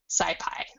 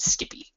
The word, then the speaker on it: SciPy: And then I'm importing the stats module from SciPy, which you'll also occasionally hear pronounced Skippy, which always makes me laugh.